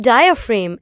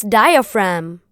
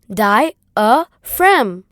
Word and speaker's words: diaphragm: Not diaphragm, it's diaphragm. And it is pronounced as diaphragm.